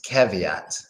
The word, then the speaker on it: caveat: interesting give yet yeah it sounds similar to caviar but instead of the are its caveat caveat now this word is